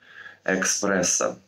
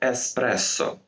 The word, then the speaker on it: эспрессо: Экспрессо. Которое правильно пишется как «эспрессо». Запоминаем. Экспресс – это поезд, эспрессо – это кофе.